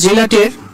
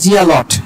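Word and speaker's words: zealot: তাহলে জেলাটের, আচ্ছা এখানে অনেকে উচ্চারণ করতে পারেন জিয়ালট, এরকম না কিন্তু, জিয়ালট না উচ্চারণ, জেলাট।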